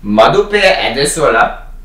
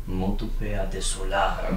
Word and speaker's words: Modupe Adesola: No, it's pronounced... Madupe Adesola. Modupe Adesola.